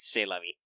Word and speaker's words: C'est la vie: Yeah, you spell it cest, but because the French are too cool to pronounce all the letters, it's pronounced C'est la vie. Yeah, Architect's got it right there. C'est la vie.